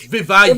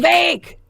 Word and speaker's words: Vivek: Ramaswamy or any of It's Vivek. Vivek. It rhymes with cake.